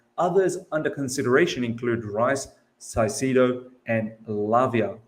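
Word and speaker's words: Caicedo: concrete interest whilst others under consideration include rice sicido and Lavia caicido so if you're having you want to pronounce it and love you interesting to note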